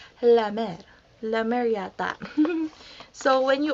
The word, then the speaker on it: La Mer: is super expensive and they pronounce it la mer la mariotta so when